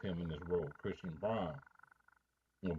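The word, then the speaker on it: Braun: what's expected of him in this Ro Christian Brun or brown Christian Brown because apparently his name is pronounced brown but looks just like brown right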